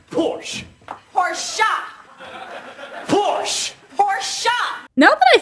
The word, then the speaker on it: Porsche: is the correct pronunciation of the car it's pronounced Porsche pora Porsche pora now that I think about it